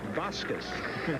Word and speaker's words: Vasquez: The SID, the sports information director at LSU, said Vasquez. Skip Bertman says it's Vasquez. I said, Richie, how do you pronounce your name? He says Vasquez.